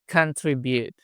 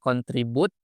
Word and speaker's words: contribute: Nah, untuk pengucapannya kamu bisa bilang contribute. Contribute. Jadi bukan contribute tapi contribute.